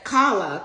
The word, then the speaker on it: Carla: said um it said Kala Colin, which is my father's name. My father's name is Colin. And in PWA, my name is pronounced Kala. My name is Carla.